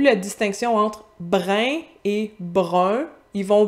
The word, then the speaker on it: brun: La plupart des Parisiens vont, par exemple, ils ne font plus la distinction entre brin et brun. Ils vont prononcer une espèce d'entre-deux pour chaque.